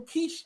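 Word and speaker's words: quiche: The next national holiday is National Kiche Day. Kiche. Kiche. Spelled with a qi. Q. Qui. Kiche day.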